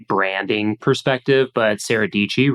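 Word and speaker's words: Dietschy: branding perspective but Sarah dii rhymes with pichy she does an excellent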